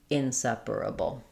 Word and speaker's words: inseparable: Uh, start on a stress syllable. Separable. Inseparable. Separable. Inseparable. Um, I would say separable. Um, this purr is very fast. So, inseparable. You might hear it like p in some speakers. Reducing those two syllables down to one. That's also accurate and okay to say.